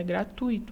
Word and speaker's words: gratuito: não é gratuito é gratuito a pronúncia a então eu não separo esse ditongo aqui só que não formam